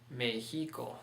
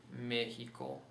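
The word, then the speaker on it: México: So if we didn't have that stress mark, how would it be pronounced? Mexico. That's right. But it has the written stress mark saying, don't follow the general rule. Rule's broken here. Put the stress mark on that initial syllable.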